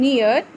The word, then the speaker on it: near: Long E sound, near. A is silent. Two vowels are walking. First one does the talking.